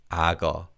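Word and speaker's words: 악어: and this is ah because of connected speech this is pronounced as ago aga as the kyok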